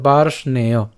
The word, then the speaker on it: বার্ষ্ণেয়: এখানের এ কারটা উচ্চারিত হবে, তাহলে বার্ষ্ণেয়, বার্ষ্ণেয়।